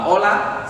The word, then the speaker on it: hola: So it's actually H-O-L-A, but it gives it like that silent sound. So it's like the H is not even there. But that's actually hello in English. So hola starts with the letter H.